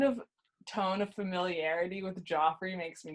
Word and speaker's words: Joffrey: His name is Joffrey. Yeah, not Jeffrey.